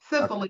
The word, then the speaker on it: Cicely: Yeah, Cicely like Cicely Tyson.